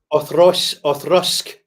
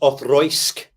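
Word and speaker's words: Auchroisk: That's their Othrusk. Othrusk. Thank you. Othrusk, that's it. Occasionally pronounced Othroisk, which is fine.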